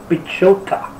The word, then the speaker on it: Piechota: The first fight after this one will be featuring Oscar Piechota. Yeah, that is how you pronounce his name.